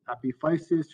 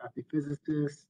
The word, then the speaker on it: epiphysis: So epiphysis or epiphysis, depends on how it's pronounced.